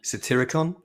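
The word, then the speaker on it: Satyricon: by Patronus the satire I can't say it right satiricon City can you say that word satiricon it's a tiricon that's it and that has the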